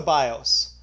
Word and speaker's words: BIOS: with what is the BIOS and it is short for basic input output system pronounced bios and there's a picture